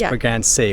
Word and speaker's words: Bragança: excited to look inside we learned how to say the name of the town it's for Grand sea we asked a local so